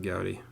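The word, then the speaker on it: Goudey: You pronounce it Goudy or Goody? Pronounce it Goudy.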